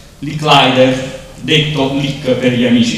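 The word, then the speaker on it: Licklider: a Joseph Carl Robert Mi sono scritto la pronuncia lick leider detto lick per gli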